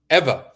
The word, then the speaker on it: Ewa: Ewa? How do you pronounce the name? Eva.